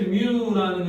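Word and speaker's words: μ: 뮤 발음은 뮤라고 있는다.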